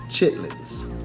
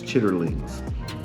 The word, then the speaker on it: chitterlings: These are chitlins. As they would say, the proper pronunciation is chitterlings.